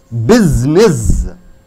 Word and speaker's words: business: And arrangements, basically, business. After A-E-I-O-U, S comes, S is going to change into Z pronunciation. Business.